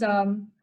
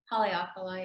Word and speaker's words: Haleakala: That was Halipia you mentioned? Haleakala, yeah. Okay, so yeah, pronunciation.